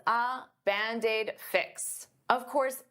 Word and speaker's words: Band-Aid: Band-Aid is 2 words, but to pronounce them like one, I'll take that D and transfer it to the vowel.